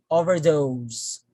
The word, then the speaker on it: overdose: pronounce this word so you will notice that i put much stress on the second component okay so once again